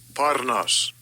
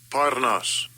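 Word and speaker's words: πόρνος: Parnas. Parnas. Right, and it's spelled pornos.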